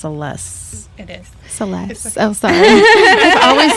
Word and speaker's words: CeLes: I think it's pronounced CeLes. It is. CeLes.